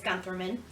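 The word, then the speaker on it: Günthermann: So this carousel is made by Gunterman, and it dates to 1900 to 1910. The Gunterman Toy Company was founded by Siegfried Gunterman in 1826 in Nuremberg, Germany. I've also heard it pronounced as Guntherman.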